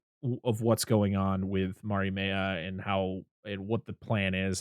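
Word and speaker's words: Mariemaia: Relina comes face to face with Marimea.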